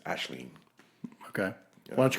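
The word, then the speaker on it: Aisling: and she her so hers is an Irish name a i s l i NN we can call her aen though the proper Irish pron pronunciation is ashleen okay why don't you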